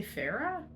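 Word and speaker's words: Feyre: life when 19-year-old Huntress Farah is that her name it's spelled f y r e people say Farah when 19-year-old Huntress Farah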